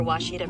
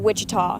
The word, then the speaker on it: Ouachita: oh Akita searching for Washita Baptist University back in Texas everybody pronounces it Wichita but really it's Washita Washita Washita how would